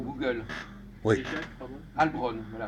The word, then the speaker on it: Halbronn: Albron, voilà, Albron. vous allez sur Google. C'est écrit comment? H-A-L-B-R-O-2-N, comme ça se prononce.